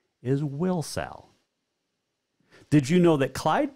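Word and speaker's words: Wilsall: actually it's w-i-l-s-a-l-l wilson or also known as will sal was named after the town's first couple will and sally that is how will cell got its name and a correct pronunciation is will sal did you know that clyde park used to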